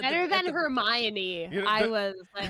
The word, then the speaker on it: Hermione: Hermy one is how I pronounce Hermy one?